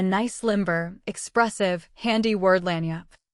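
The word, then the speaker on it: lagniappe: A nice limber, expressive, handy word, lanyap. They pronounce it Lanniap. It is Spanish, so they said.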